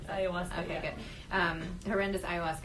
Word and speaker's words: ayahuasca: You said, and this is during this horrendous, how do you even pronounce this? Ayahuasca? Ayahuasca, okay, yeah.